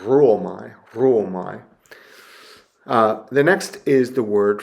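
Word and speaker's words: ῥύομαι: We have an example here of a rough breathing mark with a rho, and it really doesn't add anything significant to the pronunciation. So you don't go, ruomai. Maybe you give a little bit of a trill to the R, ruomai.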